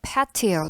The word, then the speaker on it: patio: 흔히 파티오라고 알려져 있어요 그런데 정확한 발음은요 a라는이 모음의 바른 기호가 이렇게 표기되거든요 즉 아웃볼 Apple 그 발음기호예요 그래서 patia 또는 paria로 발음하셔야 되고 우리말 사전으로는 옥외 휴식